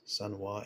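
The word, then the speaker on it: Sanwa: Sunwa, S-A-N-W-A is how you spell it, just so it's not misunderstood as like the sun, S-U-N.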